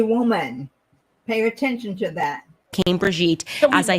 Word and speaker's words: Brigitte: She is talking about Bridget Macron. Or can you pronounce Brigitte? Brigitte.